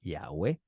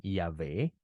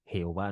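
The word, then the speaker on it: יהוה: Ya hemos dicho varias veces aquí que Jehová no puede ser la pronunciación del nombre, porque la primera letra del nombre de Dios es una yud. Y la yud suena tal como usted me está escuchando, como si fuera una y en vez de una J.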